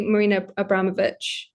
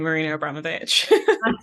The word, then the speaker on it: Marina Abramović: say her name that way, how do you pronounce it? I say Marina Abramović. It's exactly the same, Marina Abramović.